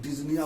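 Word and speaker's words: dyspnoea: Doctor Deepak Singh आपको एक respiratory systems का एक क्लासिकल फीचर जिसको हम लोग डिज्निया बोलते हैं, डिस्पनोइया डिज्निया इसका प्रोनाउंसिएशन वर्ड है।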